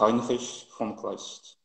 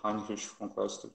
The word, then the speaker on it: Heinrich von Kleist: do Heinrich von Kleist, não é isso? Isso aí. A pronúncia alemã é Michael, né? Michael Kohlhaas. E o Uhum. autor Heinrich von Kleist.